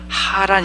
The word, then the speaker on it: 하란: 이름과 비슷했습니다 아들 하라 내 이름은 연하게 발음되는 하라니 얻고 그가 멈춘 그 지명의 이름은 좀 더 목을 긁는 소리가 더해진 샘 소리가 나는 하라 아니 었습니다 소리가 나는 맨 오른쪽